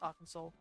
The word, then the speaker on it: Arkansas: It's pronounced Arkansas. Well, unfortunately, I'm not American, so I'm just like Kansas.